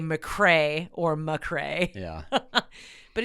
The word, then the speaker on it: McRae: It's not McRae. It's Mick. It's Ray. McRae. Mick And therefore, Ray.